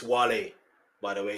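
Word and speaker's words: Wale: This is the end before teaming up with Whale and Eminem for the Monster, another chart smashing. Uh, they mispronounced his name. It's Wall, by the way. It's Wle and he's Nigerian, just so you know.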